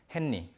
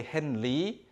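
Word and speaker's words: 헨리: Henni, henni. Some people do say henli to maybe honor the original pronunciation, but you often say henni, henni, henni.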